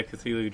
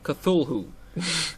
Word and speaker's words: Cthulhu: Yeah, Cthulhu drives you insane.